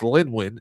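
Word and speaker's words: Lynwen: No, we need to congratulate uh I want to say her name is pronounced Lynwin is L YN.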